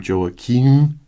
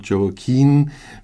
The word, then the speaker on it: Joachim: in the English version I always have to take care that I call him Joakim and not joim because that's an officer